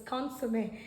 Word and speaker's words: consommé: This goes by, it is pronounced as gaspasso, and this is pronounced as bouillon, and this is pronounced as consommé.